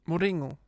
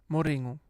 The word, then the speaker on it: Mourinho: I love how you say his name in the authentic Portuguese way. How do I say it? Moringo. One more. Moringo.